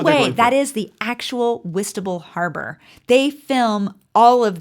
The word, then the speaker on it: Whitstable: It's Whitstable.